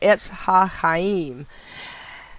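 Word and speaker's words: Etz HaChayim: H-A, capital C, then H-A-Y-I-M, and that is pronounced Etz HaHaim, as well as the word gematria and Sephirot, Sephirot.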